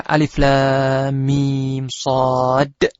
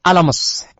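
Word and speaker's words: المص: surah Al-A'raf, ayat yang pertama, yang seharusnya dibaca Alif Lam Mim Shad, dia membaca Alamas.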